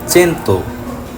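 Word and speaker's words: cento: ইতালিয়ানে চাও মানে hello, C এর পরে আই বসেছে। 100 হলো চেন্তো, সি এর পরে ই বসেছে। সে কারণে দুই জায়গাতেই সি এর উচ্চারণ চ।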